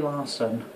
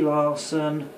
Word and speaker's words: Larson: For example, the cunt, Brie Larson, or as they should be called, Cheese Fire. And why? Because Brie is a type of cheese, and Larson rhymes with arson.